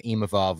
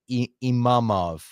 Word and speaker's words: Imavov: maybe because he said, I'm not Imamov. I Yeah. think people are like forgetting that there's two V's.